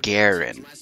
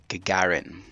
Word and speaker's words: Gagarin: it does Spartan Miller he pronounces it Garin now I really don't know how the hell he manages to get that pronunciation from the word but that is not the proper way of saying it Gagarin not gargan it's absolutely awful I